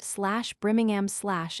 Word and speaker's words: Birmingham: /Birmingham/ for example, is pronounced /Brimingham/ in Ireland.